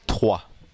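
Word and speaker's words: Troyes: TW TW y okay just like the number three yeah so how come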